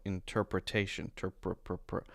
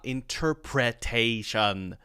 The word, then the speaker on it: interpretation: will be stressed incorrectly so interpretation do you hear that it's so short it's barely there it's not actually like the letter that's there it's not interpretation it's interpret protection interpretation